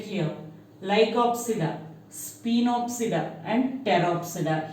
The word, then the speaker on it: Pteropsida: Lycopsida, Spinopsida and Pteropsida. Here also P will be silent. Pteropsida.